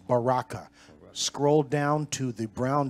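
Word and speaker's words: Berachah: to strongs it's a Baha Baraka okay it's pronounced Baraka scroll down to the brown driver Briggs definition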